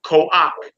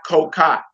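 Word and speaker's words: כֹּחַ: So that first word all the way over to the right, exercise one, but number one, you would say ko-ak, right? Not ko-ka.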